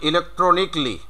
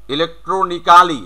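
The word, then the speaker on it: electronically: তারপরে এটা যেমন আছে ইলেকট্রনিক্যালি, খুব করে বলে থাকি, তাহলে এটা হবে ইলেকট্রনিকলি, ইলেকট্রনিক্যালি।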